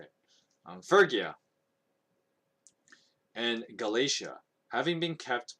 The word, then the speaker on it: Phrygia: Now Paul and his companions traveled through the region of Phrygia, that's how you say it, Phrygia and Galatia, having been kept by the Holy Spirit from preaching in the province of Asia.